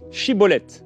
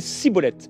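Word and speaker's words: schibboleth: Euh et lui en fait il disait cibolette parce qu'en fait il n'arrivait pas à bien prononcer. C'est ce qu'il est écrit. Sur quoi les hommes de Galade le saisissait l'égorge près des gay du Jourdain et en ce jour-là en ce temps-là pardon 42000 hommes d'Ephraï moururent parce qu'ils ne réussissait pas à prononcer correctement ce mot chibolet et il disait cibolette.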